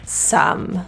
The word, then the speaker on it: some: e at the end you'd think it'd be soam that would be logical but English so here we are this is an uh uh again a neutral vowel we like our neutrals keep your teeth together some some rather than psalm could this is an